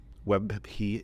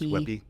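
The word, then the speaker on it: WebP: saving images as Webby, Web P W E B P, but it's pronounced Webby, um, it's a Google format.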